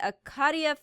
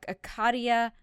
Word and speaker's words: Acacia: So let's do, and I've been mispronouncing this too, Acacia.